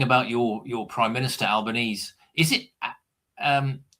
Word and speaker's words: Albanese: your your prime minister, Albanese, is it um how do you pronounce is it Albanese or Albanesei? This is what Alban Albanesei. It's Italian.